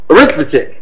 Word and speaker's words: arithmetic: one of the RS if you think about stress in syllables do we say AR arithmetic right it really reduces to arithmetic right it's very short schah I saw the